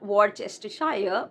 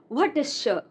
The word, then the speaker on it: Worcestershire: This is not Worcestershire, but Worcestershire.